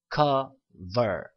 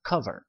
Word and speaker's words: cover: cover 여기 강세가 있으니까, 커에 강세가 있으니까 cover 이렇게 발음을 했고요.